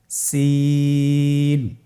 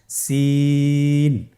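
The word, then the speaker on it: سين: জিহ্বার আগা সামনের নিচের দুই দাঁতের প্যাড ও আগার সঙ্গে লাগিয়ে উচ্চারিত হয়। জায়ের মতোই জায়ের যে মাখরাজ, সিনেরও একই মাখরাজ। আপনারা সিন হরফটি আবার উচ্চারণ করুন, সিন।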